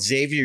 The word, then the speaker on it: Xavi: There's a college in Cincinnati called Xavier University. It's spelled just like Xavier.